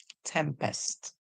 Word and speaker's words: tempest: Remember, EST says est, tempest. Tempest you, or US, us, tempestuous, tempestuous.